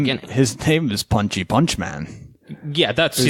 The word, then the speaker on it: Punch-Man: It's pronounced Punchman, but it's spelled PUNCH-MAN. Hence the confusion.